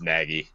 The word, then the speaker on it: Nagy: Also, we've been saying it wrong. Actually, it's Nagy. It is Nagy.